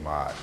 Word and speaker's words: Ma'at: of consonants, which is an M as in Mary, an R is like in Robert, a K sound, and a T suffix. So it's really like metaki, or like market. That's the historical general pronunciation of Maat.